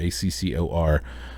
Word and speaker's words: Accor: right the acor arena not acorn arena acor accor arena uh 12 fight card